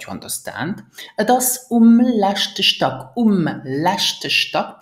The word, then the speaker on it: letzte: So, mein Appartement ist groß, that you understand, et ist um letzte Stock, pronounce it letzte, um letzte Stock, on the last floor, me et ist ziemlich ungemütlich, ziemlich ungemütlich, it's quite uncomfortable.